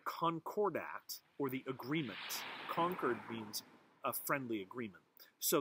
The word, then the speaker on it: Concord: that deal or concordat conquered just like conquered new hampshire not conquered like i conquered a country that's c-o-n-q-u-e-r-e-d this is concord c-o-n-c-o-r-b uh the concord act or the agreement conquered means a friendly agreement